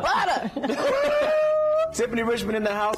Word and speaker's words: Butta: We said it right. No ER. Butta. Butta.